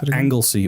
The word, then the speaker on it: Anglesey: this is big island what's pronounced anglesey or anismon is the welsh anisman um and that was